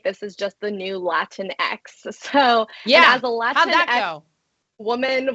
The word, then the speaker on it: Latinx: call for a lot of parents is it Latin X or is it latinx how do you say it's pronounced latinx everyone's got this right no no